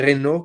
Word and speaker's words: Renault: Uno de los tres hermanos que cobró más relevancia dentro de la organización fue Louis Renault, como pronuncian allá en Francia, que bueno, gracias a